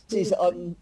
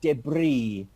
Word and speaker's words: debris: The S debris. is unvoiced. It's a French loan word into the English language, and an S at the end of a French word is not pronounced. We say debris, debris.